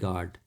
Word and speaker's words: guard: यहाँ पे आप लिख सकते हो टंग, गार्ड, GUARD, गार्ड।